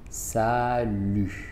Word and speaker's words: salut: Salut, salut, salut, salut. Aquí yo no pronuncio la T, se dice salut.